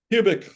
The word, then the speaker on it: Kubik: none other than kubic did I pronounce your name correctly or is it cubic cubic like a cubic see I always pronounced